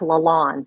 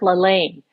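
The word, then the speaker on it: LaLanne: the audio is that she mispronounces one name Jack she calls him jack Lon and he's Jack laain and every American knows that so it's without fail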